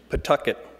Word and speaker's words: Pawtucket: You pronounce the city's name as though you're spitting out a tooth, Pawtucket.